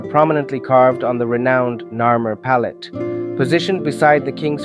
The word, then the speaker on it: Narmer: of two such symbols a catfish pronounced Nar and a chisel pronounced my these two signs are prominently carved on the renowned narur pallet positioned beside the